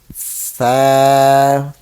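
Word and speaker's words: ث: How to pronounce Tha when your tip of tongue touch to tip of upper teeth.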